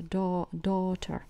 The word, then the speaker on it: daughter: a son – сын, a daughter – даже не читается, да, daughter – это о, daughter – дочь, a